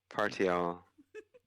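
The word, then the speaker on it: Partiowl: is like p-a-r-t-i-o-w-l it just happens to be pronounced Parts oh it's all one word yeah okay party all okay got it I feel like it has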